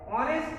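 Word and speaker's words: honest: একটু আগে আমরা টেক্সট বুকে যে রুলটা পড়েছি তাতে এ বসানোর কথা, কিন্তু বারবার আমরা উচ্চারণ করছি যে অনেস্ট আছে, এইচটা অনুচ্চারিত এইচ, অনেস্ট আওয়ার।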